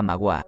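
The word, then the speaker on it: Maguá: alguno el un reino se llamaba mauá la última sílaba aguda que quiere decir el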